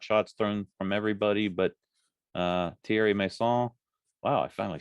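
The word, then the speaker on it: Thierry Meyssan: It got a little hairy in a couple spots, a lot of pot shots thrown from everybody, but Thierry Masson, wow, I finally said it right.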